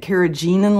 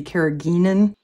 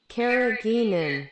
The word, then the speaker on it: carrageenan: water thick the carrageenan I was mispronouncing it carrageenan last time apparently and Google informed me that this should be carrageenan carrageenan so my apologies but